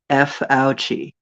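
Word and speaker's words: Fauci: And his name rhymes with ouchie. That guy, ouchie, with an F. F ouchie.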